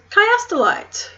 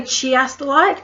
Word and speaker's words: chiastolite: That is chiastolite. Now, a lot of people are tempted to say chiastolite because the start looks like chia seeds. What the actual etymology of the word is the Greek word for chiasma.